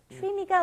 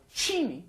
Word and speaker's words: 취미: Same don't- vowel, different pronunciation. Exactly. Don't get that lazy tongue. 취미가 뭐야? 취미가 뭐야? 취미가 뭐야? Chimi.